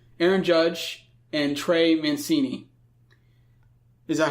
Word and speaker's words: Mancini: hard name to pronounce, Aaron Judge, and Trey Mancini. Is that how you pronounce his name?